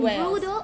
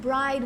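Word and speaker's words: Bryde: In Thailand you can see brooder whales, and brooder, or some people pronounce it bride whale, depends on where you come from.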